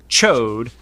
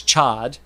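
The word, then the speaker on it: Ch'od: He's like giant amphibious, but his name is Chode, which I always pronounced it as Chad.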